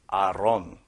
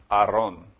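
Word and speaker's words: ארון: ark and this also in Hebrew does not say Arc it says Aron which in English letters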